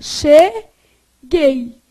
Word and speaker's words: cheguei: Então, esse U não é pronunciado, ó. Cheguei.